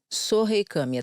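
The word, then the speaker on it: Sohei Kamiya: O nome dele é o Sohei Kami, é isso? É. Sohei Kami, tá certa a minha pronúncia.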